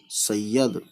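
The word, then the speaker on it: سید: तो सीन ये सही, फिर ये दाल, दाल ज़बर यद, सैयद। क्योंकि ये पे तशदीद है, ये पे ज़बर भी है, लेकिन ज़बर किस पे है, ये और दाल है ना। सीन और ये, सीन के साथ ज़बर ये है, सीन के साथ जब ये पढ़ेंगे तब ये पे ज़बर नहीं है, तब सिर्फ सीन पे है, सही और यद, ठीक है।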